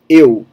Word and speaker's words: eu: You have eu. A lot of things in Portuguese, you're going to round your lips when you say eu.